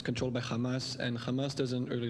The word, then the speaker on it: Hamas: Israelis say Hamas, the Hamas. There's not chet, okay?